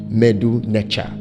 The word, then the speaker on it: Medu Neta: The Kemet people speak a language called Medu Necha. It's actually spelled Medu Neta, but it's pronounced Medu Necha.